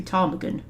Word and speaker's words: Ptarmigan: I'm assuming the P is silent, right? Then it must be Ptarmigan.